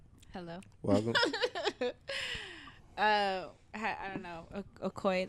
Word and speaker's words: Okoye: Okoye, that's how you say it.